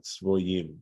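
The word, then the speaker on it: צבוים: Shem Aver king of Tzvoyim. This is a Tiv-Kri situation where it looks like Tzviyim, right, the way it's spelled, but we're being told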